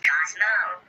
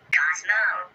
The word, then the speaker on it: Cozmo: It's pronounced Cozmo. Cozmo.